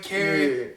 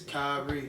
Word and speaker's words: Khari: It's usually KHARI or KHARI, Carrot. Yeah. It's not none of those. It's KHARI.